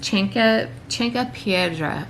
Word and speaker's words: Chanca Piedra: Alright, so there's a couple things I'm going to take after my flush though, and one of them is Cinque Piedra. I don't know if I'm pronouncing it right, but it's spelled CHANCA PIEDRA.